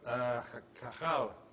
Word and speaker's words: Cajal: This is a drawing by Santiago Cajal, actually that's how you pronounce it, who was a neuroscientist, Nobel Prize winner.